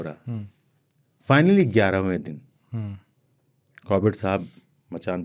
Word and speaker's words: Corbett: कॉर्बेट साहब को लोग कारपेट साहब बुलाते थे, नहीं बोल पाते थे प्रोनाउंसिएशन, गांव के लोग थे।